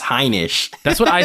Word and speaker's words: Heinisch: I'm going for Ian Heinch. So disrespectful. No, you guys are both disrespectful because it's pronounced Heinisch.